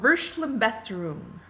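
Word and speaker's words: Verschlimmbesserung: not have heard before this one is called vers la best room yes that's how you say it and I know this because there's a pronunciation he in the back how handy is that versa Besser room is a German word and it means a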